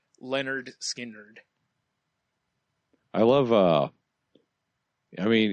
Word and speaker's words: Lynyrd Skynyrd: Metallica so we did Lynyrd Skynyrd pronounced Leonard Skynyrd I love uh I